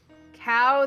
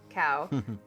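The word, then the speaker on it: Kao: Cow the Kangaroo, that's K-A-O, Cow.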